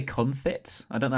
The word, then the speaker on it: confit: I think it's called a confit. Yeah, but I think it's pronounced confit. I think it's confit as well, so you don't pronounce the T at the end.